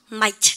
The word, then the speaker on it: might: 조동사가 누가 있다고 하면 might 그죠? It might rain. 우선 발음할 때 트 발음하지 마세요.